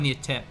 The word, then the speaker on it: Neatep: Neatap is how we're pronouncing it. Well, it's an E, so it should be Neatep, but right.